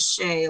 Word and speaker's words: Chet: And she also has a marmoset named Chet. But if you really want to think about it, it's spelled Shay, like trebuchet.